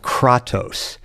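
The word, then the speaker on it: Kratos: And they all believe that the person who wins wins because Zeus gave them a very particular kind of strength called Katos. Spell it K R A T O S.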